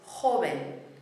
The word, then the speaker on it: joven: The word means young, and it's joven. Joven. Remember what we said about our consonants, the ch for the J and the very soft v.